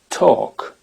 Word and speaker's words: talk: pas calm mais calm quand c'est suivi de la lettre K par exemple marcher W walk ou parler talk et non pas Talk Talk dans un mot qu'on connaît